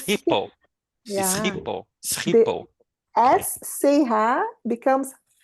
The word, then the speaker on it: Schiphol: You said at least the name of the airport you should be able to pronounce correctly. Schiphol. It's Schiphol. It's Schiphol.